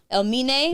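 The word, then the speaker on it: Elmiene: We got how you pronounce his name? Elimine. Elmine.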